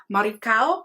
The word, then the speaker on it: Maricao: The Spanish pronunciation is Maricao.